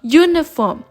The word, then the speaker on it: uniform: consonants so a euro the same method applies in a uniform because we can hear the sound of y instead of u so y being a